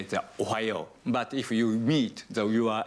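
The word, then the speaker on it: おはよう: How do I pronounce good morning? Ohayo. Ohayo.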